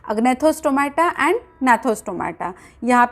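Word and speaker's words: Gnathostomata: उसमें से जो फर्स्ट वन है वो है अग्नैथोस्टोमाटा एंड सेकेंड वन जो है वो है नैथोस्टोमाटा। यहाँ पे जी साइलेंट है।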